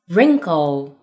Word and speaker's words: wrinkle: Number two, WR 开头，W 不发音。Right, wrinkle, wrong.